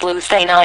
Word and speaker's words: Lucena: The Lucena position, pronounced Lucena in Castilian Spanish, is one of the most famous and important positions in chess endgame theory.